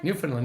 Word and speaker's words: Newfoundland: Newfoundland, yeah.